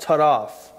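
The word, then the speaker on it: טָרַף: The word tearing, it's in Hebrew, it's pronounced taraf, and it means to pull to pieces.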